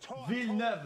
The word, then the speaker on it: Villeneuve: Villeneuve, is how you say it.